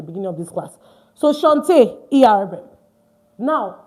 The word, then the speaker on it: chant: It's not chant, it's chant. Because French AN is pronounced on.